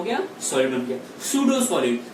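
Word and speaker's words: pseudo: सूडो solid, तो आप यहाँ पे लिख सकते हो second point, it इज अ सूडो solid, है ना, P silent, it इज अ सूडो solid, है ना।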